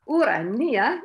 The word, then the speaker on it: Urania: now the third time urania is the classical greek pronunciation pronunciation the the greek